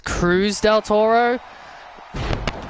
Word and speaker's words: Cruz del Toro: been saying it wrong this whole time. It's Cruz del Toro.